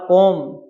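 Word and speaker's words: comb: बहुवचन नाइन है आर कोम कोम मान क्या होता है अभ कंगा एम और बी कभी साथ आए तो बी हमेशा ही साइलेंट लेटर रहता है कोम कम मन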